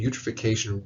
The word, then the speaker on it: eutrophication: Eutrophication, remember, it rhymes with nutrification.